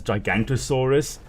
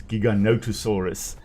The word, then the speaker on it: Giganotosaurus: Very often it is pronounced as Gigan mispronounced as Gigantosaurus which isn't a species. It's Giganotosaurus.